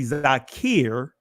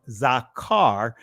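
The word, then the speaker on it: זכר: diminution of the ah so when you see Zakir it was actually pronounced zakar because the original ancient Hebrew just had an ah sound that's what this is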